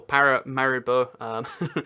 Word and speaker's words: Paramaribo: surname the capital is para me bow or Paramaribo that's the bit that's the correct way to say it as it turns out